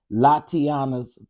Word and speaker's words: Latiana: of 2023 to join Latiana's father. Oh, that's how you say her name, Latiana.